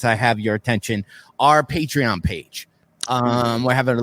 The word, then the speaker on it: Patreon: the name wrong uh it's not Patron it's patreon it's he reap and